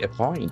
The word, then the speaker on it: appoint: does it do it appoint a P O I A point is a beautiful verb. Appoint. A point for two syllables action for the second point.